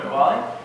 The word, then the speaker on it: Metwally: If it's not pronounced properly, Metwally.